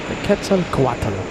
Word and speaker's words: Quetzalcoatl: It's the Quetzalcoatl livery. The Aztec Dragon on the 787. Hopefully this one parks at gate 3. I think we have gate 3 open. Quetzalcoatl. Took me a long time to pronounce that correctly.